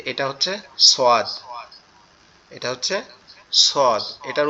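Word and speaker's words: ص: হচ্ছে সোয়াদ, এটা হচ্ছে সদ, এটার উচ্চারণও সহজ, আমাদের জিহ্বার আগা সামনের নিচের দুই দাঁতের আগার সঙ্গে লাগবে, লেগে উচ্চারিত হবে সদ, সদ, সদ, সদ, সদ।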